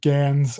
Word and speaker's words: Gans: This one was directed by Christoph Gans or Gans. I'm gonna butcher the shit.